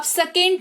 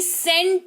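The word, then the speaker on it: scent: तो in that case सी जो है वो साइलेंट रहता है। जैसे कि इस वाले को आप सेकेंट नहीं सेंट पढ़ते हैं, जिसका मतलब होता है इत्र, खुशबू,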